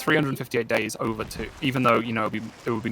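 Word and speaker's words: 358/2 Days: 358 divided by 2 days, or I think the official pronunciation is 358 days over 2, because it's 1 week shy of a year that 2 characters share together.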